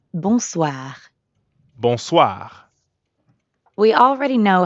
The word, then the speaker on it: bonsoir: is that means evening the end sound is kind of like saying ah at the dentist also ends in r so we've got that really light gargling in the throat again good now it's your